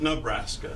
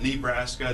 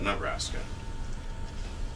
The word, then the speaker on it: Nebraska: the us some facts about Nebraska US locals pronounce it Nebraska not Nebraska not Nebraska but Nebraska it comes from an Oto Indian term meaning